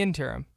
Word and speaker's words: interim: Was that like a purposeful mistake, or are you questioning how to pronounce the word? In the interim.